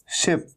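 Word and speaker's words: ship: लेकिन पॉइंट ये है कि अगर आप शिप को अगर आप सिप कह देंगे, सिप, तो सिप तो SIP सिप होता है, जिसका मतलब होता है हल्के हल्के चुस्की लेके पीना, है ना। तो अगर आपने सिप कह दिया, सिप, तो ये गलत हो जाएगा।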